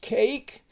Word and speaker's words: cake: we use here is cake and it's a good one because the E is silent and the a says its name now uh best way